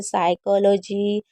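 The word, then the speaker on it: psychology: 17 rule number कह रहा है कि कभी भी अगर पी एस साथ में आएगा तो पी हमेशा साइलेंट रहेगा। और ये देखिए कुछ वर्ड मीनिंग में ज़रूर साइलेंट रहता है, जैसे साइकोलॉजी, शिडोनॉमिक, साइकेट्रिस्ट, साइकिक हो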